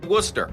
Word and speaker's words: Worcester: Wuster.